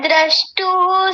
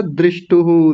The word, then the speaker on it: द्रष्टुः: तदा द्रष्टुः स्वरूपेऽवस्थानम्। इस बार आपने ठीक कर लिया, आपने पिछली बार बोला था दृष्टुहु, दृष्टु कर दिया।